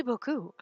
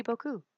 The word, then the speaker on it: beaucoup: in any case merci beaucoup we're in your debt captain I know that one but see there's a P in that word and you don't pronounce us so I'm saying like